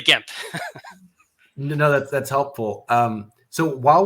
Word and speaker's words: Gemp: So I'm pretty sure the Japanese doesn't have a hard or a soft G, so it's definitely Gemp.